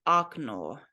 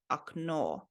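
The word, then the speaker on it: окно: you say it like okno, okno. So this O letter here is pronounced like ah, okno. And the emphasis is on this vowel over here, not in the beginning. So okno, okno, that is a window.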